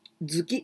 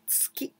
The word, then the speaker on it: tsuki: And there we say chokuzuki with zuki because there's some other word before. Then we pronounce zuki, chokuzuki, gyakuzuki. But if there's nothing before, we say tsuki.